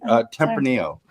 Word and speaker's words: Tempranillo: Tempranillo.